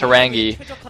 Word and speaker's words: Horang2: only a Horang2, and that is pronounced Horang2, because apparently in Korean the 2 is pronounced like an E. Don't ask me why, I have no idea, but I'm sure it makes sense in Korean.